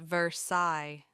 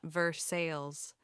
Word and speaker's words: Versailles: "Darling, it's pronounced Versai, not Versailles," Gabriel whispered at a dinner party, his hand squeezing hers under the table.